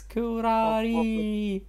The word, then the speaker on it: Kurari: I'm so proud of myself I can now pronounce it yes thanks to me yes Phantom was right it's kurari oh everyone is shocked I'm just love I'll